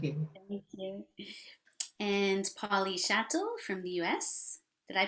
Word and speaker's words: Schattel: beautifully so thank you thank you and paulie chatel from the us did i pronounce chatel patel i will tell you how to pronounce my name chatel thank you very much both of you for